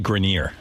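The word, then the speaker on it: Grenier: It's actually Grineer.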